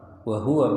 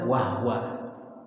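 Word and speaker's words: وَهُوَ: samawat wahua bikul Alim kata-kata wahua ini dari segi membacanya kadang banyak orang yang baca itu tidak memerhatikan apa dahnya ya Wa Hua hu haknya H dah ya haknya ha dma ha domma hu wahua banyak orang baca waha banyak orang yang baca Wah Wa kalau Wah wa berarti ha sukun ha hi hu W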